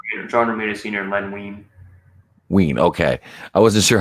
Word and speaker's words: Wein: and Len Wein. Wein, okay. I wasn't sure how to pronounce that.